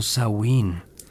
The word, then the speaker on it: Samhain: Este es Samhein, pronunciado Sain, el fin del año celta.